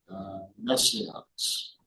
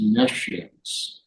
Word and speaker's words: nescience: So, I've been pronouncing it messiness, but actually it's messiness. Like a conscience.